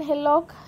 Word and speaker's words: hillock: Let's go about an hillock, नहीं wrong है, an hillock से पहले an नहीं आता, h का साउंड जो है वॉवेल की तरह साउंड नहीं कर रहा, प्रोनाउंस नहीं किया जा रहा, तो ऑप्शन 1 हमारा रॉन्ग है।